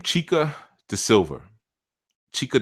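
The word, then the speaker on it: Xica: is s i I LV a but it's pronounced like chica so sometimes you see chica c h i c a but in Brazil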